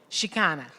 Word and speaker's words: Chicana: Chicana, thank you, Chicana, femme, and uses she, her, hers, Ella, or they, them pronouns.